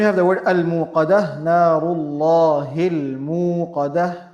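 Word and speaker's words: المُوقَدة: Then we have the word al-muqadah, Narullahi al-muqadah. The lam we have is lam al-qamariyah, not silent but pronounced.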